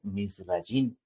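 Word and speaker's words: מצרים: La palabra Egipto en en hebreo, mis amados, se pronuncia o se lee misín y tiene un un significado espiritual muy profundo.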